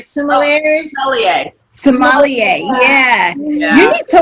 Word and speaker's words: sommelier: be one of those wine, I can never pronounce it right, sommeliers.